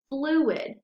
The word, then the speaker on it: fluid: But if you go right below, you have the word fluid. So then we have flu-id, and you have two syllables. You're breaking those vowels apart right in between the U and the I.